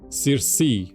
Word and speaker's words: Circe: As the development of the Proteus colony continues, you see, Circe will likely be developed for helium-3 mining. Okay. It's Greek. Ah. But the English pronunciation is kind of like Circe.